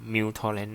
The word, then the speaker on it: µTorrent: แอป ที่ ชื่อ ว่า Mu torent นะ ครับ หรือ ว่า เ เรียก กัน ง่า ก็ U แต่ ตรง นี้ มัน อ่าน ว่า muw อ่า แล้ว แต่ จะ